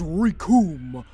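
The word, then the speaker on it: Recoome: As Raccoon was saying, the names Raccoon, it rhymes with doom!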